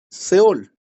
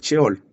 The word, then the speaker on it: Sheol: en el Antiguo Testamento se le llama Seol o Sheol, realmente es Sheol, pero nosotros no pronunciamos la H.